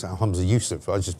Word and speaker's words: Yousaf: He would say it's Humza Yousaf. I just pronounced it differently.